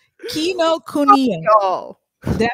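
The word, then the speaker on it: Kinokuniya: Y'all videotape Kino Kuniki. Kino Kuniki. How you say it? Kino Kuniki? Kuniya. Kino Kuniya.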